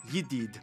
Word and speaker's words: jadid: a little accent apparently most of them pronounce their js like wise so the word for new jadid would be pronounced yiddid kuwait is the only place